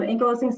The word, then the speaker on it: ankylosing: you didn't go go into how do you pronounce it ankylos yeah yes it can um ankylosing spondylitis and any of the the similar groups